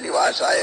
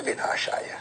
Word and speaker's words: विनाशाय: अभी तो बेचारे जो प्रश्न कर रहे तो शांत हो गए, लेकिन शुद्ध उच्चारण तो तापत्र विनाशाय है, और वही शुद्ध पाठ करना चाहिए।